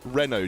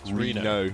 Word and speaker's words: Reno: He's tweeted us saying it's not Renault Jackson or Renault, as is, we're sort of pronouncing it. It's Reno.